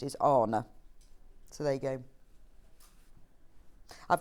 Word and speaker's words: Horner: said yes that is how her name is pronounced is honor so there you go I've got a lovely